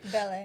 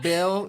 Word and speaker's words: Belle: Belle. So it's technically Belle. You did pronounce it right. So it's spelled Belle, but like in France it's Belle. But like we produce music as well.